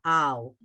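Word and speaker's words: על: The ayin is silent, everybody. The vowel underneath it has to go to somebody, and it's going to be connected right next door. It's a 1-syllable al.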